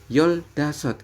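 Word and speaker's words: 열다섯: Kemudian apabila 15 maka adalah yol dasot.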